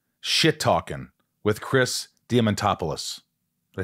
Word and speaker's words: Diamantopoulos: This is called Shit Talking with Chris Diamantopoulos.